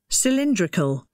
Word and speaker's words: cylindrical: on the first syllable and cylindrical the stress falls on the electrical the second syllable and the the correct